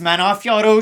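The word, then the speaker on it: Manon Fiorot: It's pronounced Manafioro.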